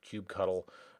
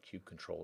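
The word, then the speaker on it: kubectl: But if you just follow the Minikube instructions, you'll also need the kube control, or kube cuddle is the way I've always heard it pronounced. Apparently kube control is the proper term now.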